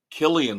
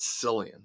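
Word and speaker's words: Cillian: I've always mispronounced his name up until now. Killian Murphy. I always said Sillian.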